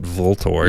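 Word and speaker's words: VLTOR: Yeah, like Ultor. I think that's how you pronounce it. Most people call it Voltor. Yeah, I would be one of those people. I How do know. you say like, it? It's almost like it's stupid to pronounce it the way that they want you to. It's a V.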